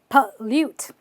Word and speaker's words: pollute: something really toxic but just because you see an o don't say pollute or pollute just say pop pollute palute okay all right there